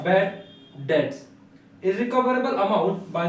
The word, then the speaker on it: bad debts: entry अब second है बेड डेटस बेड डेप्थ नहीं होता है बैड डेट्स होता है बी साइलेंट है यहां पर तो बैड डेट्स